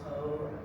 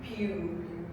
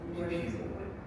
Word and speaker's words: Pugh: Yeah, most definitely get that, like from characters like Florence Poe. That's how I say her name. Florence Pugh. Pew. Pew. Pew pew.